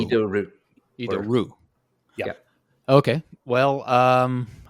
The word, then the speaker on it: Idoru: said said it as idoru uh no I I these are three syllables in Japanese and the leading I is pronounced e e yeah okay idoru idoru idoru yeah okay well